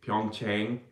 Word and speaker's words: 평창: Or as Americans say, Pyeongchang.